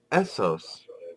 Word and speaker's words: Essos: believe if I'm reading this correctly it is Essos that is correct you're doing well please continue there's another page okay now we don't have guessed the other map for you to describe the kingdoms of Essos like we do Westeros so we're going to